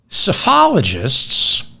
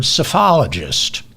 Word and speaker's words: psephologist: meaning of the word psephologist. The P is silent in psephologist, I think.